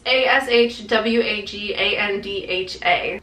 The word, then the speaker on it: ashwagandha: I don't know how you pronounce that. It's ashwagandha.